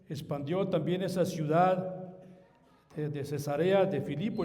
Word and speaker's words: Cesarea: Y también se dice cesarea hermanos, no se dice cesárea. Porque algunas veces hemos cuando hemos leído, leímos leemos como cesárea porque estamos acostumbrados a esa palabra.